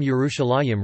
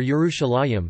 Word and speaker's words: Yerushalayim: suggestion that the name Yerushalayim refers to the fact that the city initially sat on two hills. However, the pronunciation of the last syllable as a yim appears to be a late development, which had not yet